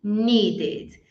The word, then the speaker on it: needed: E aí, se terminar com T ou D, aí eu vou pronunciar ed. Não é nem um E, mas é o que seria o mais parecidinho. Então, eu falo ed. Post, posted. Need, needed. São os únicos casos que